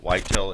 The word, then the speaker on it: Ytel: Whitel is spelled which you will shortly discover.